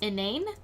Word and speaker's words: inane: did some quick research it is pronounced in name um how I found